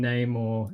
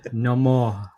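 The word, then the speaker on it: Namor: awesome way better than Neymar in the MCU it's it's no more that's how it's pronounced no more because love no more laughs uh look actually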